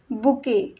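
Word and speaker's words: bouquet: एक छोटेसे दुकान next बुके इट्स बुके बुकेच spelling बघा काय आहे बी ओ यु क्यू यु इ टी पण टी हे सायलेंट लेटर आहे we pronouns it बुके इट्स बुके बुके means पुष्पगुच्छ गुच्छ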